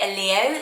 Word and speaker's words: Elio: few pronunciation videos so it's sort of the spanish italian name and obviously it sounds a little bit different but in brits we would say a leo so it's isn't it